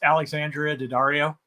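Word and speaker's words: Alexandra Daddario: I have an honorable mention, and that is I'd look up her name because I can never remember how to pronounce it. It's Alexandria Daddario Okay, there you go.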